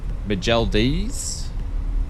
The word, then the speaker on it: McDonald's: Majeldis? That's how you say it in French.